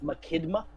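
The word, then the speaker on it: Machinda: Um I've been going with the great ship Mckidma. Mckinidma. Mckidma. Can you spell that for me?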